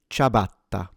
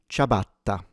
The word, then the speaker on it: ciabatta: This word is pronounced ciabatta, ciabatta, ciabatta, ciabatta. Now, if you're a native Italian speaker, do keep in mind that when it comes to correct diction, then you should not double the B.